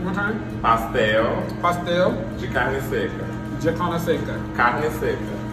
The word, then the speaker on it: carne seca: Pastel de carne seca. And how do you pronounce it one more time? Pastel. Pastel. De carne seca.